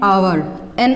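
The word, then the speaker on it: hour: अब देखिए एन आवर बोलते हैं। अब देखिए एच साइलेंट रहता है, एन आर, ठीक है।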